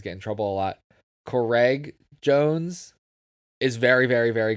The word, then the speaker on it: Craig: Apparently you're not supposed to say it like the name Greg with a C. It's supposed to be like Craig. Like you have to hit the C like Craig.